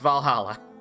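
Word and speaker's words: VA-11 Hall-A: But yes, it is pronounced Valhalla.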